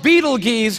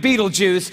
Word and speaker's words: Betelgeuse: It's called Betelgeuse or Betelgeuse. You can pick your pronunciation. I'm obviously going with Betelgeuse.